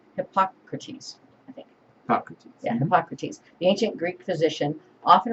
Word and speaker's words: Hippocrates: Yeah, Hippocrates.